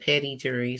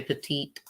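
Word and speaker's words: petit jury: Yeah, that's how you say it, petty jury. Some say petite. It's petty jury.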